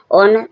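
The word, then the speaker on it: honour: एन ओ यू आर यहां पर ओनर H silent है एच के बाद जब ओ आर है तो ओ से पहले एन आर ओ से पहले एच आ रहा है। एच साइलेंट है। एच का कोई साउंड नहीं आ रहा।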